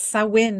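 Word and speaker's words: Samhain: great yeah so there's so it's sawin is how you say say that oh say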